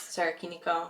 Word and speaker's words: Sarakiniko: Same thing with the Sarah Kinikio beach, which I don't know how to pronounce. Sarakiniko.